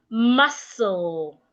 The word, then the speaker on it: muscle: Then we have muscle. Not mos. Muscle.